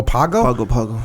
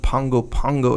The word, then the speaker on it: Pago Pago: in pgo pgo Pago Pago pagoo Pago Pago thank you in American Samoa yeah actually it would be pronounced Pongo Pongo if I'm not mistaken because you add the n Sound and okay the G